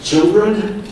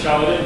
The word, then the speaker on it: Chaladin: fine young fellow, Children. I mispronounced that, help me. It's pronounced Chaladin, but close.